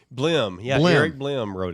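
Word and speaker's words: Blehm: Help me pronounce his name. Is it Eric Bleem? Blim.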